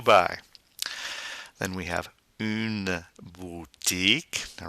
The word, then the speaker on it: une: have une boutique now remember the French you is not a you it's a boo and to do that we go e keep that e sound going and making with your mouth ye mmm boutique a